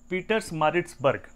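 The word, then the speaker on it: Pietermaritzburg: तो एक स्टेशन वहाँ आता है जिसका नाम था सेंट पीटर्समारिट्सबर्ग। उसकी spelling PIE, Peter मैरिड्स, BERG, इट इज़ BURG, Berg.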